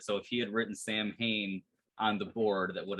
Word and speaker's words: Samhain: And it also goes by the name Samhain. They mispronounce it in Halloween too.